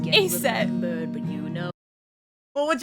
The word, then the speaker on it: Aset: Isis, the Greek adaptation of the name of her name in hieroglyphs is that, which by convention would be pronounced Aset.